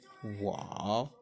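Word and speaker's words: 我: Je se dit wa, wa. Donc, répétez après moi et prenez le soin de prononcer en tenant compte des temps.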